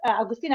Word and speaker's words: Augustina: Today in our session in this live we have another special guest nonetheless Augustina Augustina am I pronouncing it right?